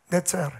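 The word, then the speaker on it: נצר: 이 가지라는 말을 히브리 말로 그 발음 나는 대로 읽어보면 넷제르입니다. 넷제르.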